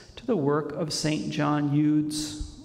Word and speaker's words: Eudes: John Eudes. In French, I believe they say Eudes, that's how they pronounce his name.